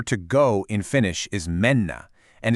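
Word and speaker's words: mennä: The verb for to go in Finnish is menna. And it's pronounced pretty much just how it looks.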